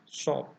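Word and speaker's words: ص: Huruf shad membacanya dengan bibir agak ke depan seperti hendak bersiul, ya, shad.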